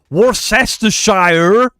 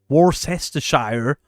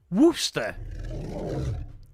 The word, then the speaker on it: Worcester: Not Warester south. Worcester.